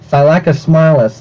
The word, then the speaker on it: Thylacosmilus: Okay, finally, they pronounce it properly, but come on, bro. How many attempts? Thylacosmilus, Thylacosmilus, Thylacosmilus, okay.